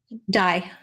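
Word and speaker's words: Diné: And basically, she was from the Navajo tribe, but they pronounce it is now called Dye.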